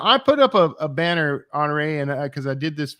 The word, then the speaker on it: Honorée: And she corrected me on her pronunciation, SD Houston, which you'd think I would know, Honorée.